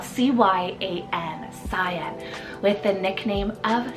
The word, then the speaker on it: Cyan: shorter four-letter name here and that's the name cyan spell c-y-a-n cyan with the nickname of Psy I'm very